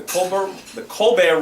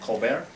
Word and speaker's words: Colbert: News, ABC, CBS, NBC, Univision, and Telemundo, the Colbert Report, and NPR. That's how you say it, Colbert?